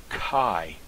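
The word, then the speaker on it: καί: your first the thong Alpha Yoda in the word Kai that doesn't pronounce k it is Kai because the alpha Yoda is a def thong you also notice the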